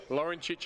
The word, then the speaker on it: Lorenzic: Lorenzic, I'm calling him because that's how it should be pronounced. That should be 25. Anthony Lorenzic. That's what he calls it, I know.